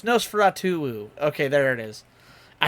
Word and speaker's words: Nosferatu: Oh, it's Nosferatu.